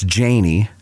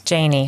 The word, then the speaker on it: Janney: were talking beforehand it's janie it's a long a yes it's janie but most people would say janie yes because of the